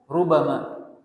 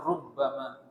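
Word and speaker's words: رُبَمَا: Rubama, dalam qiraah Asim, qiraah yang kita baca itu bacanya rubama. Dalam qiraah yang lain dibaca rubbama, ada tasydidnya di rubba.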